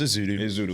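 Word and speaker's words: Ezeudu: Yeah, you did it right the first time. It was Ezudu.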